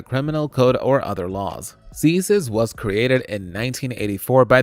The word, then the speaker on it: CSIS: The Canadian Security Intelligence Services, pronounced CSIS, is Canada's spy agency.